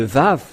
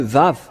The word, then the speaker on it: vav: vous dire voilà le vave euh que ce soit l'hébreux carré ou l'hébreux archaïque ou bien l'araméen impérial il lissent ils lisent tous ensemble que c'est V que ça se prononce il faut enlever un